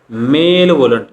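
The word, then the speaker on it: malevolent: विरुद्ध शब्द कोणता आहे मेल व्लंट स्पेलिंग उच्चार आहे तो असा उच्चार आहे मले वलंट कसा उच्चारतो मले मले व्लंट मग बेनीवलंट म्हणजे काय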